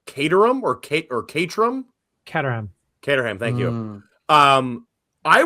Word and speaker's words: Caterham: Set number 14 is I always forget how to pronounce this right. Caterham or Caterham? Caterham.